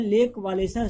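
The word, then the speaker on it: Lech Wałęsa: और farmer electrician of the shipyard ले वालेसा, इसका नाम है लेक वालेसा प्रोनाउंसिएशन है, देखना इसको।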